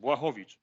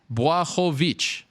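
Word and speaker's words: Błachowicz: Is it, now tell me if I'm right or wrong, Blachowicz? Yes, almost perfect. Almost perfect. Blachowicz. Blachowicz. Yes, now it's good. Blachowicz.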